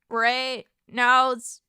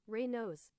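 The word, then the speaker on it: Raynaud: Reynolds. How to pronounce? Raynos. Raynos? What about the D? Raynos? I have Raynos. Oh, it's French. Oh, Anyway, it's the thing where my circulation is dog shit.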